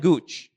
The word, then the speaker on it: Gouge: que se llama William Gooch. Voy a poner el nombre aquí porque a veces la pronunciación o la forma en la que se escribe es diferente. William, se escribe Gouge. William Gooch, se dice.